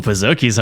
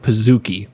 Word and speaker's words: Pizookie: I've always been on the side of Pizookie. Yes. Because it's a cookie, not a kookie.